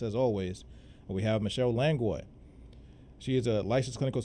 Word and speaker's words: Langlois: Is it Langlois or Langlois? Langlois is the proper pronunciation, but Langlois is fine as well.